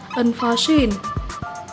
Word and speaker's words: unforeseen: Từ số 13, chúng ta có tính từ là unforeseen. Nhấn âm 3 nhé.